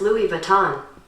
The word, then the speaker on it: Louis Vuitton: That's pronounced Louis Vuitton.